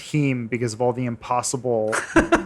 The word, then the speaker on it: heme: bleed different colors I only know that it's pronounced heme because of all the impossible burger videos I've